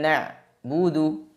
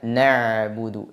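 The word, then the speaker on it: نَعْبُدُ: sifat tawasud atau bainiah jadi diingat suara pada pengucapan huruf Ain dialirkan sebagian tidak ditahan semuanya tidak dibaca na buudu seperti huruf hamzah tapi dibaca nabudu dialirkan sebagiannya dan sebagiannya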